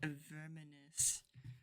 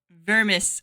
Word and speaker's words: Vermis: Vermis. I keep adding a syllable to it. Vermis. You keep calling it. You keep calling it verminous and it's like, no, it's not vermin.